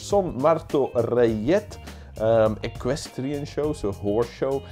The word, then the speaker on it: Son Martorellet: was hard to pronounce, the Son Martorellet. Rayet, that has to be because it's Spanish. Son Martorellet.